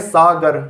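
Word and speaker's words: ساگر: इसी तरीके से जो अगला लफ्ज़ है आपका ये है सागर, ये भी काफ़ी आसान है, पढ़िए इसे।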